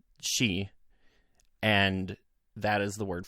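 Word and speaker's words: 四: 4 is an unlucky number in Japan because the number 4 is pronounced she, and that is the word for death in Japan.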